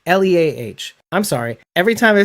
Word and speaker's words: Leah: a jewish name but it's not said pronounced as leia it's pronounced leah right then i started